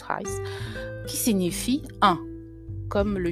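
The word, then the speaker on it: εἷς: versions est en fait le mot Hais, H-E-I-S, prononcé Hais, voilà, on le prononce Hais, qui signifie un, comme le chiffre 1.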